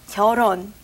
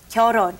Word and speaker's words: 결혼: this stage, which is 결혼. 결혼. And it's written 결, but you don't pronounce 결. Okay, you take the L and put it on top of the H in 혼 and say 결혼.